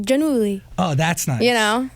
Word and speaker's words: Giannulli: Okay, it's Olivia Giannulli. Oh, Giannulli. Yeah, it's Italian. Ooh. But I think I even pronounce it wrong. I think it's supposed to be like Giannulli.